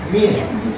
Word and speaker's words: mean: Nah untuk lain rata-rata Min tulisannya Mea dibacanya Min jika kalian bertemu nanti